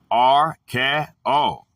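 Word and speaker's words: ἀρκέω: The Greek word is archeo, pronounced R-K-O.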